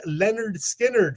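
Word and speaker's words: Lynyrd Skynyrd: coming at number two that amazing debut release pronounced Leonard Skynyrd from those Southern rockers from Florida with four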